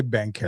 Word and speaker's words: Banchero: We can say Banchero.